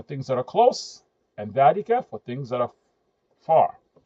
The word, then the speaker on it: ذلك: We spoke about the pronunciation of ذلك, even though it's written just like here, it's pronounced ذلك. It's written without the alif.